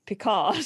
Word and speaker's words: Picard: you pronounce his name Picard.